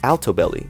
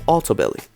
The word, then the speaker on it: Altobelli: just a side note many Reports say their names as altobelly but close friends and family say autobelly in their interviews that's the pronunciation I'll